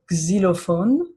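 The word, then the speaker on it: xylophone: Now, X is going to work uh like the X in English exist. Okay? So, kind of like a Z sound in there. Okay? So, for instance, the word zilophone.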